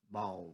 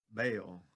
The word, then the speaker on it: Baal: talks about moloch and ball worshipers well you know ball is spelled b-a-l-l bale spell b-a-a-l and that's what he's